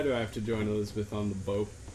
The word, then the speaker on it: Elizabeth: Why do I have to join Elizabeth on the boat? It's pronounced bow.